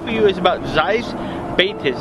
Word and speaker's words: Batis: one I have for you is about Ze baas it's spelled b a t i s and it's